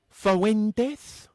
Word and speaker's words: Fuentes: If you do Fuentes, say it right.